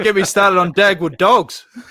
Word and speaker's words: Dag: I love it in in Norwegian you pronounce Dagotto as dog and so every dog has his day.